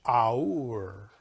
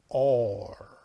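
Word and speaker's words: אור: You read it in English, aur, but you pronounce it or.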